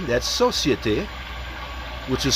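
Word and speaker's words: Société: Next we have Society, that's Societe, which is spelled S-O-C-I-E-T-E, Generale, or General, which is spelled G-E-N-E-R-A-L-E.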